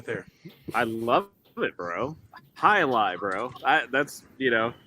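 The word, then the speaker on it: jai alai: name last night and i was like jai alive and i don't even think the waitress knew but i come on this show and you know i get told the proper pronunciation so i thought hi lie imagine if the waitress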